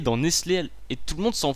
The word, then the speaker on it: Nestlé: Tout le monde connaît Nestlé ou tout le monde connaît Carglass, ça sert à rien.